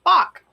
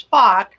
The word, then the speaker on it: Spock: I mean, his name is Spock because it rhymes with shock, and pop because that's the sound that accompanies that's his thing.